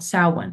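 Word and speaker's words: Samhain: Halloween celebrated what is called saan it's spelled like Sam Hayne but this was on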